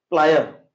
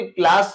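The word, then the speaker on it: plier: इसके बाद आ जाता है अब प्लायर, और इस प्लायर को बहुत कोई प्लास बोलते हैं, पिलास बोलते हैं, पता नहीं ग्लास भी बोल देते होंगे, जो भी बोलते हैं। जनरली मार्केट में प्लासी बोल के ये सब प्रोनाउंस करते हैं, जानते हैं। तो ये क्या है, प्लायर है।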